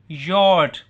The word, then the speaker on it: you're: यू आर, योर, योर। जैसे वो योर होता है ना, वाई ओ यू आर वाला योर, वो वाली साउंड देनी है, योर। इसको अब यू बोलने लगे, प्रोनाउंस करने लगे, आपने यू आर नहीं प्रोनाउंस करना, बल्कि इसको क्या प्रोनाउंस करना है? योर।